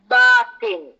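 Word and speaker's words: باطن: that we should um pronounce this word uh correctly so the word is batin and you know this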